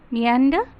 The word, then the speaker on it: meander: Meander is rhyming with gander.